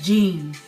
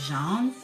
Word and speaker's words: Jean: I think it's Gene, but because they were Caribbean people, I think, or Jamaican or whatever they were, or are, they pronounce it Jean. But Botham Jean, Mr.